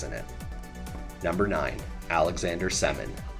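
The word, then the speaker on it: Semin: number nine Alexander semon that's pronounced semon please but you would be forgiven for thinking otherwise many people did most Russian names are pretty straightforward but this one definitely threw some NHL announcers a curveball that is for sure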